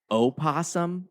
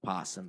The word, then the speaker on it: opossum: It's opossum, Right. not possum.